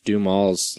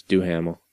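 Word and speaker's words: Duhamel: I'll tell you what for the longest time I thought Josh dumaul's name was do Hamill yeah because that's how it's spelled it should be anyway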